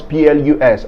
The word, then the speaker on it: plus: so first of all when do we pronounce pl us as plus in french number one when it is a determiner functioning as the comparative of the quantifier many in which case it means more look at this example